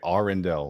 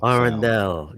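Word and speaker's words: Arendal: arendelle yeah i have to say it right r indel arendelle just like those are awesome speakers man really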